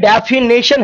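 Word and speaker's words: definition: और option D की बात करें तो डी में डेफिनेशन है। आप कई बार शब्दों का उच्चारण गलत करते हैं, आप बोल देते हैं डेफिनेशन, भाई नेशन नहीं होता, नीशन होता है, डेफिनेशन बोला कीजिए हमारे साथ, क्या होता है डेफिनेशन।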